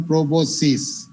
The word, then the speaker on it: proboscis: এই এসটা অনেকে বাদ দিয়ে দেয়, PROBOSCIS, এসটা কিন্তু থাকবে, PROBOSCIS উচ্চারণ প্রোবোসিস, এস এর উচ্চারণ নাই কিন্তু লেখার সময় এসটা থাকবে।